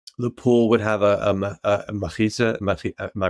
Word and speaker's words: mechitza: So I would say that the Hasidic bungalow colonies, the pool would have a machitza. Am I pronouncing that right? Machitza, yes.